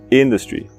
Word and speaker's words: industry: Industry. In termina em consoante, no N, né? Então é o som curto. Industry, e não o som longo, industry, algo assim.